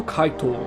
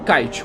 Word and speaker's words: Kite: Entrando no flashback, temos a introdução do Kaito, ou Kite, como vocês pronunciam.